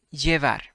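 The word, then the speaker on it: llevar: trabajar take or carry we say yevar the sound is y yeah because it's double l double l is it has sound of uh y evar okay yes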